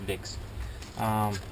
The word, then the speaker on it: Wick: And we got him it's got some ibuprofen and pseudoephedrine, and it's from Vicks, but they spell it with a W, so it's Wick to us, but it's actually pronounced Vicks.